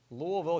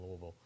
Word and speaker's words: Louisville: lot of time in Louisville and you have to say Louisville with a speech impediment to say it properly Louisville Louisville Louisville not Louisville it's like Lancaster South Carolina